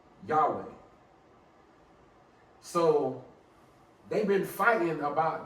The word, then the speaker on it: Yahweh: But the scholarly way to pronounce the God of Israel is Yahweh.